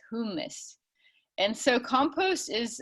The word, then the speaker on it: humus: And the word humus, that refers to soil and compost, whereas hummus, you get the hummus sandwich from the Mediterranean restaurant. So that's the proper way to say it, is humus.